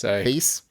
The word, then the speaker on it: Thies: Especially Alexander, Casimir, Eduardo, Jennifer, Thomas, Garrett, Randy, Jesse, Sandra, Thies, Alex, and Krob. He gave us a pronunciation guide. He said the first syllable of thesis. Yeah, isn't that Thies?